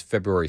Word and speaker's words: February: His first show back is February 2nd. Okay. So, like two weeks. Yeah. Two or three weeks. Yeah. February 2nd. February. February. February. And pronounce the R.